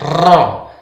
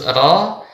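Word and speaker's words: ر: Huruf R Indonesia terlalu banyak getaran. Ro. Nah, ini tidak benar ya. Kemudian saat kita membaca huruf ro, bibir kita tidak boleh monyong atau manyun. Ro. Nah, itu tidak benar ya. Yang benar ro.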